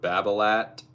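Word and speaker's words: Babolat: you might see are Babalat. Technically, if you technically if you want to say it correctly, it's pronounced Baba, but here in America, we just pronounce the T and everything. the French don't.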